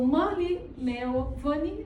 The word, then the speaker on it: Murli Melwani: So, Mali Money, that's how you say pronounce.